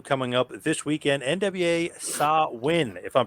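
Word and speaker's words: Samhain: up this weekend NWA saw win if I'm pronouncing that correctly yes it is sin it looks like it's pronounced Sam Hayne but it's actually a Gaelic ancient pronunciation and uh sin is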